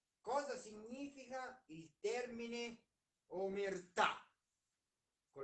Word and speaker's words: omertà: è gusto numero 3 cosa significa il termine omertà con l'accento sulla o perché saviano si oppone all'omertà